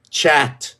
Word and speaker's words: chat: cat in French no it's chat CH h a t except it's not pronounced that way it's sh it's that's right it's sh and Sh but when